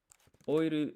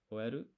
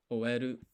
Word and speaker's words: 終える: Or oiru is to finish. Oeru. Let's check the pronunciation for that word. We'll go to vocab. We're on verbs 3. To finish. 終える、 Oeru.